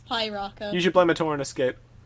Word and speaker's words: Piraka: It's Piraka.